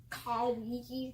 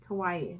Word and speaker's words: kawaii: Kawaii. How do you say it? Kawaii. Kawaii. Like Hawaii with a K.